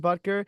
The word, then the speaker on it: Butker: Then next up, we have a commencement speech by Harrison Butker, right? Is that how you say his name? That's how you say All it. right, yeah, Harrison Butker.